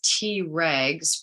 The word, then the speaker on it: Tregs: Known as Tregs, pronounced T-regs, these cells exert a calming influence over the aggressive, bloodthirsty members of the immune system's rank.